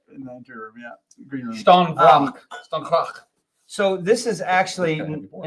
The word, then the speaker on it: Stjärnrök: We pronounce this as Stjärnrök, but that's not correct. That was because Google Google said- told us that's what it Google was. said that was correct, but it's Stjärnrök.